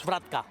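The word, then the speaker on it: Svratka: a t c a k k so it's swatka with the cck accent like I said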